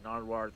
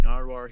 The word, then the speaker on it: Nardwuar: napkins so I became nardoire oh yeah the human serviette okay okay he's not saying it right say it right damn here he became narwar he also forms his